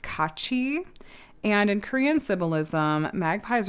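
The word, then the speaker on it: 까치: And uh this in Korean is pronounced kachi.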